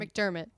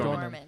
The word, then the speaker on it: McDormand: McDermott. No, it's McDormand.